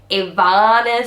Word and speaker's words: Ivana: Ivana sit on bananas. So Ivana was an ibex, but because her name was Ivana and it rhymes with banana, she has to sit on bananas.